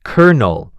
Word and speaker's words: colonel: It is spelled c o l o n e l, but it is pronounced kernel, like a kernel of corn.